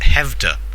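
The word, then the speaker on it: Skövde: It's spelt Skovdi, Okay. but I went to Wikipedia, and Wikipedia told me it was pronounced Hevda, so who knows.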